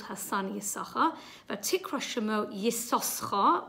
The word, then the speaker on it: Issachar: although we call him Issachar it's got two shins and one is silent because this it's a